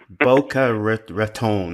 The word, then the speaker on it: Boca Raton: so welcome now first did I get the pronunciation right is it Boca Raton or baccarat but a baccarat count Boca Raton okay all right I remember that anyway John